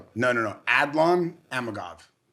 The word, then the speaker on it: Adlan Amagov: Aldon Adakov. No, no, no. Adlan Amagov. Okay. Mhm. You spell it.